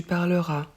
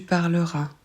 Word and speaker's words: parleras: une autre vidéo tu parleras pour tu on ajoute as s en plus de l'infinitif on ne prononce pas le S on s'arrête au son a il parlera elle parlera